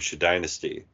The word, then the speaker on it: Shadynasty: There's an episode where they explained that that Frank was once in love with a black woman named Shadynasty, which is spelled SHADYNASTY. Yeah. So it's shady nasty.